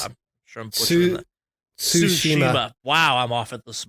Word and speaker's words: Tsushima: Tsushima. Wow, I'm off it this morning. It's Tsushima.